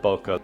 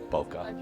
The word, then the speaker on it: bokeh: I pronounce it bokeh. There's a debate in the film world, is it bokeh, bokeh? I'm going to go with bokeh.